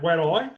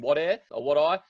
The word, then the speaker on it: Wadeye: Is that how you say it, Wadeye? And tell me about that experience in Wadeye. Where is Wadeye and what was it like? It's so funny hearing people pronounce it. So it's pronounced Wadeye.